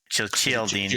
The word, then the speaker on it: Cialdini: Let's go with the chi. Cialdini sounds a little bit more authentic.